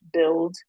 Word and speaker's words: BLD: name um and my my initials are BLD and the word is pronounced build because essentially I help